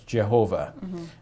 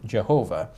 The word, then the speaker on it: Jehovah: uh they uh um follow a rendition of this name uh that comes from the Middle Ages uh where it was uh pronounced by a Christian scholar as Jehovah Jehovah what he did there was he combined the the four letters YH wh the four consonants uh with vowels that belonged to the expression the